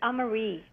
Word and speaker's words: Amarie: And how do I pronounce your last name? It's AMARIE.